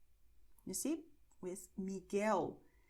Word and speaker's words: Miguel: And in GUE, GUI, the letter U is silent, so it's going to be written but not pronounced.